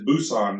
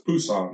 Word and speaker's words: Busan: was in Pusan when there's two different pronunciations on all the maps it says Busan now but the old pronunciation was Pusan that's what all the locals thought it was really neat